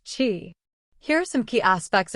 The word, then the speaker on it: Qi: Technology is one of the wireless charging standards alongside Qi, pronounced Qi.